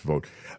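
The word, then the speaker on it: Vought: control om that's Russell spells it V ght I think it's pronounced vote uh and uh he's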